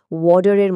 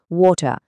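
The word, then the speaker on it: water: আগের উদাহরণটাই আবার দেখি, ওয়াটার। আমেরিকানরা এটাকে প্রায় ওয়াটারের মতো করে বলে। খেয়াল করেছেন টিটা ডি এর মতো শোনাচ্ছে, কিন্তু ব্রিটিশ উচ্চারণে এটা একদম স্পষ্ট ওয়াটার।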